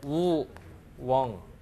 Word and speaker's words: 우엉: 우엉을 뭐라고 불렀냐 그은 예전에는 우왕이 대요 우왕 여기 우왕 자거든요 이게 왕 예전에 이제 훈몽자회 아고 우리나라 최초의 국어 사전이 있어요 거기에는 우왕이 나와요 그랬다가 이제 요것이 지나서 이제 우 엉 그래서 우엉으로 발음이 변한 거죠 요거 이제웡 우엉 도중에는 우엉으로 변해요 그랬다가 이제 지금의 이제 우엉으로 발음이 변하는 요런 이제 특징들이 좀